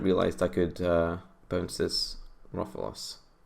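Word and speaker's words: Rofellos: I wonder if the opponent realized I could bounce this Rofalos. I know it's probably pronounced Rofelos, but hey.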